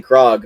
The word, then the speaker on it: Krog: maybe he's yes he's seen krog not cord he keeps saying his name wrong i'm saying it wrong